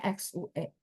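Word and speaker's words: 血: Ya, golongan darah berarti kalau misal ketemu begini, kita tahu artinya, berarti ini bacanya apa? Golongan darah. Bacanya apa, teman-teman? Baca XIE atau XUE? Iya, bacanya XUE.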